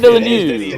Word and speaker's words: Villeneuve: Villeneuve. Villeneuve. Fellow Canadian, Denis Villeneuve. There you go. And you nailed the Canadian.